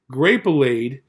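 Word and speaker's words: Grapelade: an advertised grape bleed rhymes with marmalade grape allayed from concord grapes this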